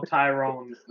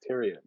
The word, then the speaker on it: Tyrion: Well, it's spelled Tyron. Tyrion, yeah, it's Tyrion.